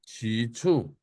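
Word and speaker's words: 起初: bacanya, aksennya bagaimana bacanya? Cicu.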